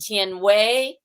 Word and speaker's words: Jianhui: It's pronounced Tien Wei, but it's spelt very differently.